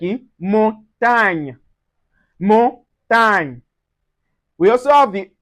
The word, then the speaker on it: montagne: So we have g and n which is going to give us the gn gn sound just like in montagne.